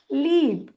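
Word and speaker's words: leap: इसीलिए हम ई का नाम लेंगे, ए को भूल जाएंगे और ई का नाम है ई, आवाज है ए, एल ई ए पी होगा लीप।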